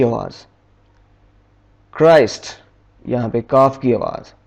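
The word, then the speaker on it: Christ: पर है चाइल्ड यहां पे चेक की आवाज़ क्राइस्ट यहां पर काफी आवाज़ च आर आई एस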